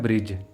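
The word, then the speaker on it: bridge: यहाँ पे वर्ड है ब्रिज। यहाँ पे डी के बाद जी आ रहा है, इसलिए डी जो है वो साइलेंट होगा।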